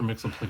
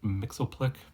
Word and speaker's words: Myxlplyx: And you see the pronunciation John Byrne went with here. I will always call him Mr. Myxlplyx because that's essentially how I learned it.